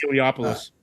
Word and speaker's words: Eliopoulos: Chris L I can't remember how to pronounce his name or his letters. Heliopoulos.